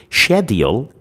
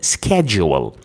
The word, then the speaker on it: schedule: But schedule is the British more common uh pronunciation of this word.